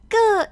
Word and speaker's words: 个: It's pronounced ge. Ge, it's one of those characters that kind of doesn't exist in English.